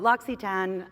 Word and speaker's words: L'Occitane: There's a YouTube video about that commonly mispronounced name. But L'Occitane, which is what we're going to be talking about today.